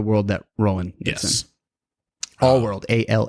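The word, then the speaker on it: All-World: no but it is all world that's funny that's funny that I was saying it wrong it's not ours but their world but it is all world so yeah he wakes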